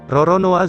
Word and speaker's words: Roronoa: loloe , who was the cruelest pirate in the Caribbean during his time, loloe is pronounced Roronoa in Japanese .